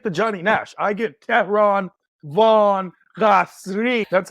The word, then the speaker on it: Tehran Von Ghasri: And that is the one and only Tehran Von Ghasri. Did I do you justice in terms of the You did it pronunciation?